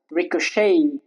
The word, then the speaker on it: ricochet: Ricochet. The T is silent.